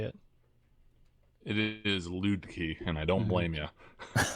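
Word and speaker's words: Luedke: joel how do you say it it is loot key and i don't blame you dude sorry from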